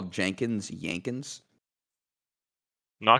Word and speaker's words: Jenkins: Because Jenkins is pronounced with a J, whereas Jensen, the J sound makes the Y sound. But it's basically the same name.